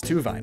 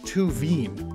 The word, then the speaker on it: Tuvine: it's actually crystal type it's named after minerals that end in veen like olivine which has the same coloration as tuvine i mean tuveen and finally we have